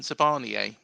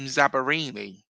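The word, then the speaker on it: Zabarnyi: because I called him Zabarini, and he was like, "He's just turned Italian, has he?"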